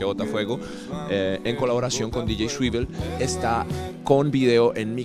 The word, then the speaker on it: DJ Swivel: DJ, ¿cómo se pronuncia? DJ Swivel.